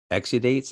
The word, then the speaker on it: exudates: about how a plant will send out these exudates is that how you pronounce it yeah yeah that's just it's like